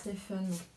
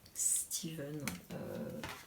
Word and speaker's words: Steven: Parce que oui, j'entends beaucoup de gens qui disent Stephen. En anglais, ça a beau être un PH, ça se prononce V, Steven.